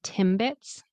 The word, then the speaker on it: Timbits: Remember M. Put your lips together. B. Your lips are together as well. So the M of M and then B. It's like an explosive um of your lips breaking apart.